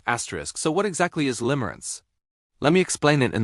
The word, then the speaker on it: limerence: Limrance pronounced asterisk limb- errance asterisk is an intense involuntary mental state.